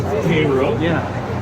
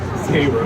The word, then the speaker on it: Cairo: And you do pronounce Cairo. Cairo. You do not go down to Cairo, Illinois, and say Cairo. They will tell you that they are not in Egypt.